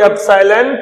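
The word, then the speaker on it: epsilon: माध्यम है तो फॉर्मूला बनता है 1/4 पाई एप्सिलॉन Q1 Q2 upon R square.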